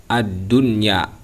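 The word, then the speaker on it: الدنيا: Di sini contoh yang pertama yaitu lafaz ad-dunya. Bagaimana cara bacanya? Ad-dunya. Kita izharkan, kita jelaskan. Karena yang disebutkan dengan izhar itu adalah jelas, menjelaskan huruf, yaitu huruf nun. Kita jelaskan, tak boleh didengungkan.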